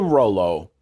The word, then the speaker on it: Rollo: Up next, we have Leave It to Rollo, and it's spelled ROLL-OH. Roll-O.